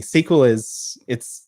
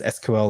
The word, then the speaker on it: SQL: SQL people pronounce it as SQL or SQL.